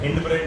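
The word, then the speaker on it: hindbrain: हिंड ब्रेन बोलो, हाइंड ब्रेन बोलो, इट्स वन and same. Further pronunciation हाइंड ब्रेन अच्छा लगता है, नॉट हिंड ब्रेन, ठीक है?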